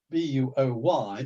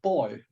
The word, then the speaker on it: buoy: B-U-O-Y is pronounced boy in British and buoy in American.